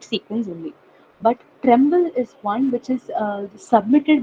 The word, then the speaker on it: TrEMBL: One is SwissProt, and the other one would be called Tremble. Tremble, which is spelled as TREMBL. Okay, that is Tremble.